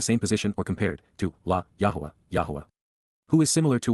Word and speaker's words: Yahweh: surrounding him mm/ lyrics to sing Psalm 89:7 Yahweh Yahweh the proper pronunciation of the name of eloah God as